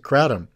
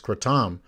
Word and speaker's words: kratom: of people pronounce it kratom in thailand it's pronounced kratom that actually has it's